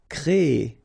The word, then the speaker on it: créer: So it's quite interesting, sorry, here, because first you will have this CRE accent aigu, so you get the créer sound, and after that you get this ER sound, so E. So technically you will have this double E sound. Créer. Okay, so it's longer.